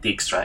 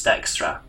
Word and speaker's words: Dijkstra: It's not Dijkstra, it's Dijkstra. It's a Dutch name.